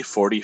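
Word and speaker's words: quarante: In French, you don't pronounce the ou here, so it's not quoi, it's like car.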